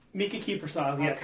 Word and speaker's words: Kiprusoff: That's not how I pronounce his name, but Krisipov? Mika Kiprusoff, yeah, Okay.